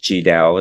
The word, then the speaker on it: Tri Dao: about your story foreign for those who can't pronounce my name ji Dao they call me for short it's